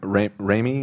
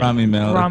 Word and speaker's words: Rami Malek: Oh, Remy or I Remy? I don't know how to say his name. Rami Malek.